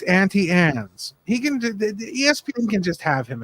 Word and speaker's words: Auntie Anne's: It's not Auntie Ann's, it's Auntie Anne's.